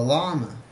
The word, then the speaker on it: llama: very good of the Llama I know it's pronounced llama but it has two L's so it should be L llama ah who is